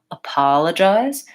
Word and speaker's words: apologize: write that one out apologize okay so first thing I like to look at is where is the stress in this word and in this case it's short long short short apologize so I want a